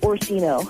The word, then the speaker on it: Orsino: Now, your last name is Orsino? Pronounce that for me. Sure, it's Orsino. Orsino. What is that, Italian or what? Yeah, it's Italian.